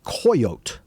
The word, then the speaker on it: coyotl: It's spelled in their language Coyotl, but the L on the end is silent, and so the way they pronounced it was coyote.